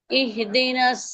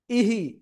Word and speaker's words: اهدنا: اهدنا اهدنا একটা ভুল অনেকের উচ্চারণ হয়ে যাচ্ছে এরকম ইহদিনাস, ইহি এরকম না, ইহদিনাস, ইহদিনাস, ঘা খেয়ে ফিরে আসা যাবে না, ইহি এটা বলা যাবে না, ইহদিনাস সিরাতাল মুস্তাকিম।